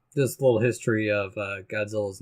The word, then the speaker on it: Godzilla: creative team who suggested Godzilla because it was closer to the Japanese pronunciation, because it's like a DZA sound, not a J.